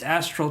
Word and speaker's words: astral: you can correct that it's astral it's astral travel not astro travel just you know to